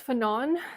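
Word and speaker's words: Fanon: do this okay so France fenon so I was right um that's the French pronunciation so he wrote this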